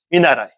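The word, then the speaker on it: 見習い: 견습, 한자 견습이라는데 그냥 일본은 켄슈, 습자도 슈라고 읽는 거니까 그렇게 안 읽고 일본에서는 특별히 읽습니다. 미르, 보다는 동사하고 나라오, 배우다는 동사를 뜻으로 써가지고 읽습니다. 미나라이.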